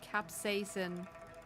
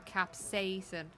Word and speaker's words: capsaicin: Capsaicin or capsaicin. Both are correct.